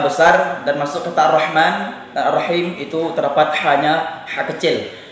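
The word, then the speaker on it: الرحمن: nggak ada perbedaan ha adapun yang sebenarnya itu awalnya ha besar baru kita masukkan setelah itu ha kecil rohman ya rohim Jadi mungkin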